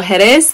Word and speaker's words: Jerez: throughout the trip so heres the emphasis is on the second syllable kadis the emphasis is